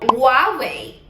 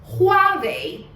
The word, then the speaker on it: Huawei: Porque se pensamos, numa marca chinesa, todo mundo conhece, talvez, que eles falam Huawei. Huawei. Agora, em chinês, pronunciamos Huawei.